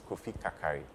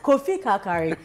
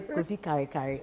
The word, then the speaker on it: Kofi Karikari: So please pronounce your name to people. Okay, so my name is Kofi Kakari. Okay. Have you heard? Okay, so wherever you are, pronounce after us. Kofi Kakari. Don't say Kofi Karikari.